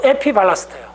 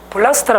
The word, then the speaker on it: 에피블라스트: 이 태아 이쪽에 맨 처음 되느냐면 바로 에피발라스트예요. 에피블라스트라 그래요? 블라스트. 아, 발음 바꿔야 된다. 에피블라스트.